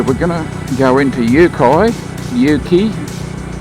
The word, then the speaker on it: Uki: We're going to go into Yuki, I don't know how it's pronounced, UKI. Take it as you will. I think it's Yuki.